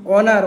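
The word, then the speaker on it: honour: এই উচ্চারণ হবে না অনার অনারে এই উচ্চারণ হবে না এগুলো হচ্ছে আপনার ফস্ট যে লেটারটা লেটারটা হচ্ছে সাইলেন্ট।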